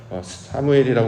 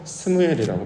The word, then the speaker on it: 스무엘: 똑같은 단어인데 발음이 어디에 있느냐에 따라서 사무엘이라고 발음하기도 하고 스무엘이라고 발음하기도 합니다.